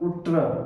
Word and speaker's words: उष्ट्र: उष्ट्रह कह दिया। उ बोला। उष्ट्र। उ्र बोल दिया। जबकि शुद्ध संस्कृत उच्चारण उसका होता है। उष्ट्र उष्ट्र।